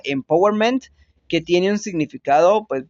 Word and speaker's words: empowerment: Y esta, pues básicamente primero analicémosla, que esta es una palabra inglesa que en su término original se pronunciaría empowerment, que tiene un significado